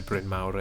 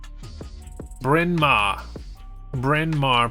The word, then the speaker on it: Bryn Mawr: Not that anybody pronounces it properly in Pennsylvania, where Bryn Mawr is. Bryn Mawr, Pennsylvania.